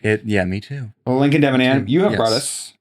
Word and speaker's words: Debenham: And I used your family name in the correct pronunciation, correct? Debenham. Pretty much. There's a lot of Devon hammers out A lot here.